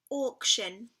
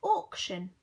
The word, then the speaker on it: auction: And the last word was the word auction. So we've got the or sound at the beginning this time.